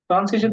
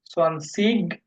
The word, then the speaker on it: zwanzig: আপনারা যদি ওয়ার্ডের শেষে আই জি পান, আই এবং জি, এটাকে দুই রকম উচ্চারণ করতে পারবেন, সোয়ানসিগ অথবা সোয়ানসিস। আইজি থাকলে তালিব বসের মতো উচ্চারণ হয়, দুইটাই কারেক্ট। যেমন ইসের মতো, ICH হলো ইস, মানে আমি। ঠিক আইজি আপনি ইস অর্থে ব্যবহার করতে পারবেন, অথবা ইগ, both R correct in German.